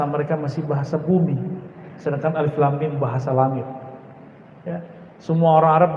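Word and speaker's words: الم: masih bahasa bumi sedangkan alif.lam.mim bahasa langit semua orang Arab bingung Ayo kita Alhamdulillah diizinkan Allah Subhanahu ta'ala mendapatkan ayat-ayat seperti ini dan dibacanya bukan alamun alamun artinya penyakit sakit di kolom Alif itu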